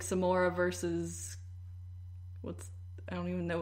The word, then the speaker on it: Samara: But I kept calling the ring girl Samara anyway. Yeah. I was just like, what is Samara doing here? It's pronounced like Samora too, like in the actual movie.